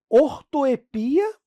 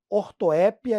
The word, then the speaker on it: ortoepia: E aí, pessoal, às vezes vem no edital ortoepia e prosódia. Ortoépia e prosódia. É uma palavra que tem dupla pronúncia, né?